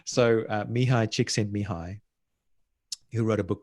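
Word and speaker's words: Mihaly Csikszentmihalyi: I've had people I've trained to pronounce his name properly, but forgive me if I get it wrong. So Mihai Csikszentmihalyi, who wrote a book called Flow.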